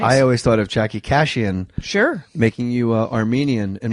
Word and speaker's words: Kashian: Jackie Kashian rhymes with vacation.